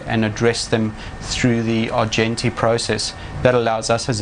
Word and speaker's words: Argenti: Yes, you did get the pronunciation right. It is the Argenti system, and it's the strategic planning system used by the likes of NAB, Wesfarmers, and indeed Silverchef in Australia.